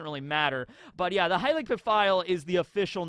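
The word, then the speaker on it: Heilig Pfeil: So we finally get the pronunciation on how that's said, Heilig Pafio. That is pretty close to the way I always said it.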